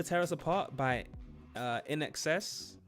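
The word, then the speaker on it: INXS: Never Tear Us Apart by uh Inex? I only recently learned how to pronounce that, by the way. I would have said in in excess.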